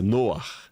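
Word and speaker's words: נֹחַ: no ó até o até a pronúncia noar é né lembra rar em hebraico que é vento noar aquele que descansa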